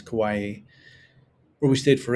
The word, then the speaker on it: Kauai: We came from Kauai, which is I never know if you call Kauai or Kauai, but the correct pronunciation in Hawaiian is Kauai, where we stayed for 8 days.